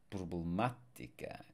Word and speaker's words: problemática: So notice that here we have the stress where the accent mark is, and the accent mark is on the third to last syllable, because otherwise, by default,